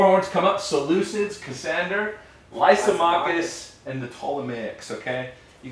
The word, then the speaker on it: Lysimachus: Limachus. Lysimachus.